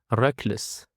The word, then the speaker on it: reckless: And for the third word that we have is reckless. Reckless. The stress is on the first syllable reckless.